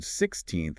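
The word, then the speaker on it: sixteenth: Now, normally, the word 16th is stressed on the second syllable, 16th.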